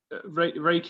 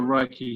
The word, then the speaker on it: Reiki: So Reiki or Reiki healing, it's pronounced both ways by different people, is a modality of healing which uses the energy of the universe to basically to heal people.